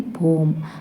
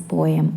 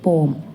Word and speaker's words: poem: It's actually poem, but people wrongly mispronounce the word as poem, which is wrong. We should say poem.